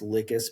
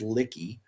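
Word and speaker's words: Lhykis: He also sends I know it's I know it's supposed to be pronounced Licus, but I insist that it is Licky.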